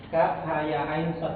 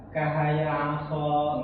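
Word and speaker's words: كهيعص: Jadi dia itu terpotong-potong, walaupun hurufnya ini kelihatan bersambung gitu kan secara penulisan, tapi cara bacanya ini terpotong dia. Nah ini nggak disambung ya, jadi ini aja. Jadi nggak apa namanya, nggak begini bacanya, nggak kahaya aso, nggak gitu maksudnya ya.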